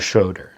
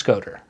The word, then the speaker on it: Schoder: I'm pretty sure in my life, 95% of everybody says Schoder, which is intuitive. That's why they do it. That's what it looks like. That's what people are used to. But it is Schoder.